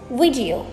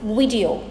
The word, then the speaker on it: video: Both the I and the E syllables in this word are pronounced as short I sounds. It's video.